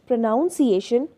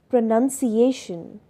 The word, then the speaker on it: pronunciation: first word is pronunciation but many people say it pronunciation which is obviously not correct the word is pronunciation the second word is this yes we all